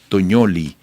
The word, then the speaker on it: Tognoli: Bueno, para conversar sobre este tema, tenemos vía Zoom desde Buenos Aires, capital argentina, a Fiamma Tognoli. Se escribe el apellido T-O-G-N-O-L y latina, y su nombre Fiamma con doble M, es analista internacional argentina.